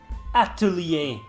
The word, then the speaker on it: atelier: let's do that again that's how it is pronounced atelier damn it's hard to pronounce so we're just